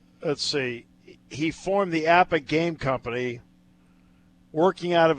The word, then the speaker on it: APBA: APBA enthusiasts, and it is pronounced APBA, by the way, included Presidents George H.W.